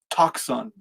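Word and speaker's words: τόξον: Toxon. That's how you pronounce it in Greek.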